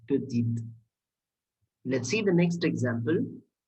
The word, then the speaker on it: petite: And in this feminine form, we are ending with E. That's why this E is silent. And we are pronouncing it as petite.